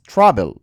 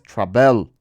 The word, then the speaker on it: travel: consonante vocal consonante pero la sílaba tónica el acento está en la a es Travel no es Travel Entonces cuando lo pasamos